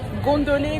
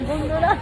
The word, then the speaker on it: gondola: Hey, gondoli, gondoli. C'est gondola. Gondola. Gondoli, gondola.